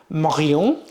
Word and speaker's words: Marion: Your name is Marion, the proper pronunciation in French, but your last name is Scottish.